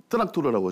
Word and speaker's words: 뜨락토르: 근데 북은 28마력짜리 뜨락토르라고 하죠. 러시아 발음으로. 천리마 28호입니다.